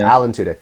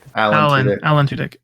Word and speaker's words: Tudyk: No, Adam Tudyk, is that how you pronounce last name? Alan Tudyk. Alan Tudyk.